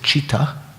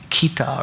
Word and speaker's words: citta: This is the Indian word C-I-T-T-A, and you might say that should be kita or something, but that C in Sanskrit is pronounced like cha, right?